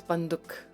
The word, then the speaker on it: बंदूक: Wo apni banduk. I think it's not duk, it's banduk. Banduk. Sound, not the oo, not the oo.